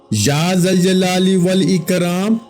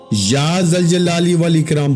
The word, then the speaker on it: یا ذوالجلال والاکرام: اس لیے یہ الفاظ بھی آج یا ذوالجلال والاکرام، یا ذوالجلال والاکرام، بعض لوگ اس کو کسی اور طرح پڑھتے ہیں، لیکن آپ کو جیسے تلفظ بتا رہا ہوں اسی کے مطابق پڑھیے گا، اسی ترتیب کے ساتھ.